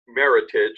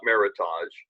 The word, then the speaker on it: Meritage: was a national contest somebody came up and mashed up merit and heritage so it's actually pronounced Meritage not Meritage and it's the Meritage